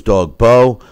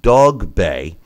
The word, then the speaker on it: Dogboe: did pick up this weekend was the proper pronunciation of some of these names I thought it was dog Bo same thing I thought Solinsky was selec but